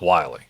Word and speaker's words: Willie: Spelled, for anybody who's going to look that up, it's spelled like Willie, W-I-L-L-I-E, but it is pronounced Wiley.